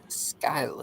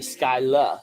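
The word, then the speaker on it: Schuyler: The way they're saying it here is the Skyla sisters. Given how it's spelled, I think it's Skylar.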